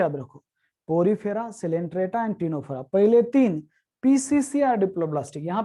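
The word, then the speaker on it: Ctenophora: टिनोफोरा का सी हम यहाँ पे ले रहे हैं, भले वो साइलेंट है।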